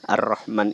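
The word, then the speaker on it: الرحمن: kata-kata ini ar-rahman ini ar-rahman ini eh ada huruf rok bertasydid itu rok bertasydid kita bacanya agak ditekankan karena kita sambung dengan huruf sebelumnya Nah di sini juga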